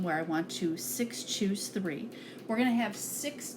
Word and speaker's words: nCr: NCR button for combinations or shootin we pronounce that is choose and then we'll hit